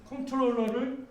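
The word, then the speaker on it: comptroller: 그래서 컨트롤러를 여기 P자 발음 안 하고 막 이러는데 이거를 그러니까 불란서 애들은 계산하는 놈, 카운터 뭐 이렇게 생각하거든요.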